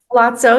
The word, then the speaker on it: Palazzo: Palazzo? Palazzo, yep, it's an Italian word.